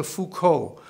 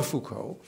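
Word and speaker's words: Foucauld: essay about charle de fuco that's that's foucault spelled f-o-u-c-a-u-l-d he was not spelled the same in no relation to the philosopher michel charles de fuco was a famous hermit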